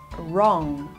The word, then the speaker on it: wrong: this word wrong okay the W sound is silent here wrong wrong how do you